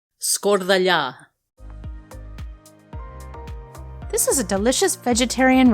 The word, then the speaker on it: Skordalia: To make the Skordalia smooth and fine, it's worth the step to strain the potatoes.